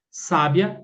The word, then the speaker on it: sábia: Porque um exemplo, ó, sabiá é oxítona, sabia é paroxítona. Sábia é proparoxítona.